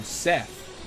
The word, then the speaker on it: Seth: um like you know seth rhymes with death and said rhymes with dead that's two two related